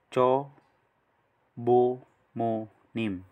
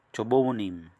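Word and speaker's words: 조부모님: Cho, bu, mu, nim. Cho, bu, mu, nim. Ito po ang tamang pronunciation.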